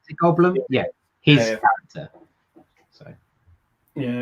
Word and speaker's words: Goldblum: Goldblum. Goldblum.